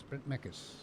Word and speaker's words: Mekkelsen: I keep saying his name wrong. It's Brent Mekkelsen.